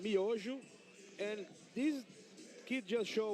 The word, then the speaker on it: Miojo: Brooke, we pronounce it Miojo.